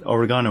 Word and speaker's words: oregano: Oregano. Yeah, cuz oregano is American English pronunciation, right?